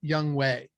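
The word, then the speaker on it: Chigoziem: And just to be clear, Okonkwo's first name is pronounced Young Wei.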